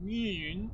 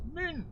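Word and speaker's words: Mün: And I'm making a point here that it's not pronounced moon with two O's, but with an U. Or an U umlaut, as in moon, as some people prefer it. See, it's pronounced moon.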